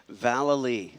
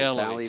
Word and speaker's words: Vallely: Now, you told me your last name is Valalali. Vallely. Vallely. But it's been pronounced all sorts of different ways. Galilee. Valerie, Vallely, Vallely, la la, Vallely.